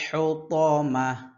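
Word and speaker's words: الحطمة: শেষে যেহেতু গোলতা আছে গোলতাকে আমরা কিসের মত উচ্চারণ করতে হবে হা এর মত উচ্চারণ করতে হবে ওয়ামা আদর ওয়ামা আদর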